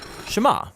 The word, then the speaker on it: Shema: is hear or listen which in hebrew is pronounced Shema that's where the prayer gets its name now